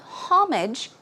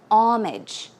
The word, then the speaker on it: homage: so pay homage to although it starts with an H the H is silent so it's not homage it's homage homage pay homage to